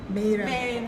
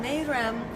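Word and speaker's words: Meyrem: So with that, I'm going to introduce our first guest tonight, Mayram. It's difficult to pronounce. I want to say Marilyn, but it's not quite that. Mayram, who will tell us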